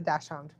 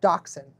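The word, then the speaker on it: dachshund: But she does have fur in her face from the dash hound or dachshun, depending on your pronunciation.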